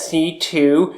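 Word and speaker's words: C.C.: excuse me her her her name is pronounced C 2 because it's 2 C's in a row yes and well that's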